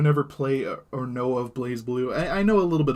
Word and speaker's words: BlazBlue: BlazBlue is how you say it.